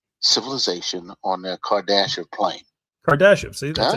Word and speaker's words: Kardashev: Kardashev, see, that's how you say it.